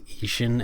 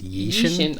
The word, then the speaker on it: Ishin: And then there was I don't know why people were pronouncing Ishin as Yishin.